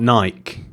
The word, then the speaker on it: Nike: few ones kind of it's Nike not Naik hey listen you okay here in England we call it Naik I don't like my